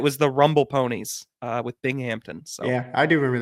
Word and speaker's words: Binghamton: So, and it's Binghamton.